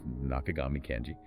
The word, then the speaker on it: 中上健次: A pronunciation note confirming the correct way to say his name, that's Nakagami Kenji, and his incredibly detailed